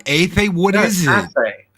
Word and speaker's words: Athay: If there's another, you call me, but you can always call me Athay. Athay.